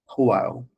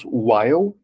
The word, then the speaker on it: while: for some time and the pronunciation of the W is different from the word whole while so you have to to aspirate just a little bit while not so strong some